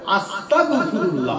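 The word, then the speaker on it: أستغفر الله: তাহলে আপনার উচ্চারণটা কি হবে? আস্তাগ আজ শয়ত এক গ। আস্তাগফিরুল্লাহ হবে।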